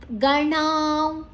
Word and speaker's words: ಗಣ: ಆಗಿದೆ ಭೂ ಮಹಾಪ್ರಾಣ ದೀರ್ಘಾಕ್ಷರ ಗಣ ಗಣ ಣ ಮೂರ್ಧನ್ಯ ನಾಲಿಗೆಯನ್ನ ಮಡಚಿ ಹೇಳಬೇಕು ನ ಅಲ್ಲ ಣ ಗಣ ಅಲ್ಲಿ ಅನುಸ್ವರದ ಉಚ್ಚಾರಣೆ